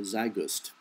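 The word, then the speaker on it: Zeitgeist: of the movie uh zust which is I think is a very accurate uh depiction of the world today I don't pronounce it it's German it's zi T GE i s t look on at uh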